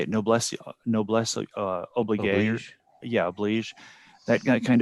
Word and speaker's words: noblesse oblige: Noblesse oblige.